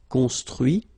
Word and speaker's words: construit: Okay, so you can notice that even if I put this final T, so as usual, I don't pronounce it. Okay, conduit, construit, cuit, détruit, instruit.